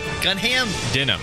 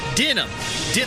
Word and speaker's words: Denham: Gunham? Denham. Like the jeans.